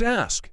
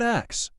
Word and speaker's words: ask: It's ask, not ax.